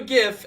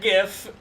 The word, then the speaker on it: GIF: Somebody make that GIF, throw it on Reddit, reap the karma. And it's pronounced GIF, by the way.